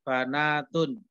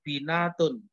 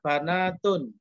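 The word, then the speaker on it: بنات: disiapkan dalam kurung menjadi banatun harap diperhatikan cara bacanya karena banyak yang membaca itu binatun terpengaruh dari bintun ya bacanya banatun banyak juga sudah kita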